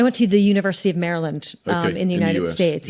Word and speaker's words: Maryland: to the University of Maryland um in the United States yeah right outside of Washington DC Maryland as you would say here um but Al marylanders don't pronounce the Y yeah um yeah so